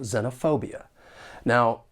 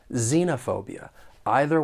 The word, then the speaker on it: xenophobia: don't really match up the word has five syllables and the stress is on the third syllable xenophobia now there are two accepted